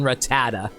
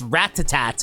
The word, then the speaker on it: Rattata: but probably not on Rattata. Speaking of Rattata, man, I always pronounce his name as Ratat as a kid. like ratat even though it's clearly rattata.